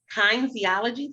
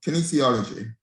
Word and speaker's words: kinesiology: i'm saying this wrong probably kind theology tape oh kinesiology i knew i said it wrong that's okay i see